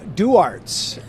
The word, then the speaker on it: Duarte: to be too because have i been mispronouncing what i thought was duarte's tavern i think i have been yeah that would be do arts tavern i met mr duarte